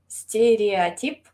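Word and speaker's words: стереотип: De hecho, en ruso se dice stereotip.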